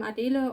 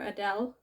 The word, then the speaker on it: Adele: i'm a d m adilo or adele i'm from germany that's right a different pronunciation i don't mind if anybody in real life calls me adele they can't pronounce a german version i'm a german university